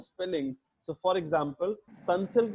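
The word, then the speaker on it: Sunsilk: spellings so for example sun silk is pronounced like sansalik in pakistan so you need to add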